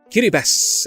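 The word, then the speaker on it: Kiribati: Kiribas, and yes, it's pronounced that way, is the native Austronesian rendition of the name Gilbert after the British captain Thomas Gilbert.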